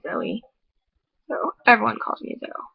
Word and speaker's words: Zoe: should be pronounced actually i'm supposed to like put two dots over the e and then it'd be zoey so everyone calls me